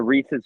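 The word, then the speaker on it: rhesus: s u s yeah Reese is like Reese's peanut butter cups is the way it's pronounced but it's spelled like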